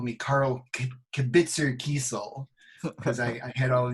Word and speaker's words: Kesel: I realized I mispronounced your name. It's Kesel. I always thought it was Kesel. It's okay. I actually have cousins that say Kesel.